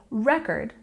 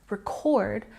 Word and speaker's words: record: for example this word we can use it as a noun if we put the stress on the first syllable if I say record you know that I am referring to this word as a noun it is the big black disc that we can listen to music from but if I say this word word with a stress on the second syllable record then I'm using this word as a verb I'm recording a video